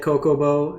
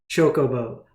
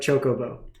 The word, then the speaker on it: Chocobo: I said Coco in the last video and all my comments were ripping me apart.